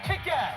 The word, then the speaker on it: Kick-Ass: Yo, Kick-Ass! Who is this guy? He's claiming to be the world's first real supervillain. Ma come lo pronuncio? Con la A.